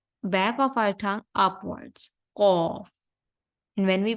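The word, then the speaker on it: ق: Qaf. And when we pronounce the letter Kaf, the back of our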